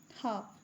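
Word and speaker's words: half: हाफ यहां पे भी एल साइलेंट है।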